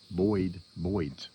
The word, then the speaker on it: Boyd's: Now, my other gun, I've ordered me another stock, ordered me a Boyd's, that's how you pronounce it, Boyd stock.